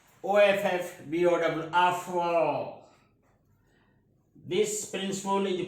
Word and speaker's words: Aufbau: The word is spelled like this: Aufbau, but actually it is pronounced as Offbow.